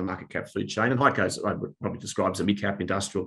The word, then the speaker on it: HEICO: Is that how you pronounce it? HEICO, yep.